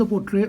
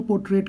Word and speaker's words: portrait: First of ऑल मैंने इसको highlight इसलिए किया क्योंकि बहुत सारे लोग इसको पोर्ट्रेट कहते हैं। इसको प्रोनाउंस किया जाता है पोर्ट्रे, PORTRAY। लिखने में ये पोर्ट्रेट ही लिखा जाता है, PORTRAIT, लेकिन इसको